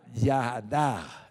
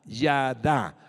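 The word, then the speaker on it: יָדַע: en su bifoliar en el idioma hebreo ya ya da ya da así se pronuncia significa conocer descubrir tener respeto reconocer la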